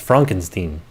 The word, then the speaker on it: Frankenstein: Ah, actually, it's pronounced Frankenstein.